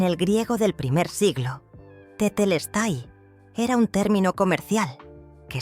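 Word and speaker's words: τετέλεσται: La palabra que Florencia redescubrió era tetelestai, pronunciada tetelestai.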